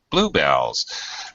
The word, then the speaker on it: bluebell: your garden all right blue bells very abrupt switch from high low Blue Bell and second